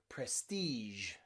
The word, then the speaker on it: prestige: then finally we have the french loan word sound which is the super soft g in words like rouge okay or beige or even prestige okay in all of these words we have that j sound okay which is very rare but in french loan words it does exist then we have the